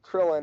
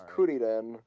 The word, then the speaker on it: Kuririn: Just like it's anyway, not Krillin, it's Kuririn. It's not Goku Tien, is it's Tenshinhan.